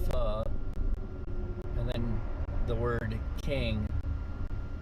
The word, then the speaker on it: pho: Alright, now there was PHO, which is pronounced pho, and then the word king.